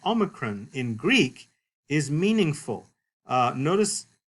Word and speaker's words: Omicron: But you don't necessarily want to pronounce this like that long O we're used to, O, but like what we call a short O. In fact, even the name Omicron in Greek is meaningful.